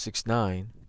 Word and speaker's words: 6ix9ine: 1996 known professionally as takashi 69 or just69 pronounced 69 is an american rapper songwriter and convicted felon